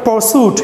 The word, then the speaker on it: pursuit: अच्छा बेटा अगला वर्ड है इंटेलेक्चुअल परसूट. ए परसूट मैंने परसून है परसूट. Why? Because ra is followed by consonant.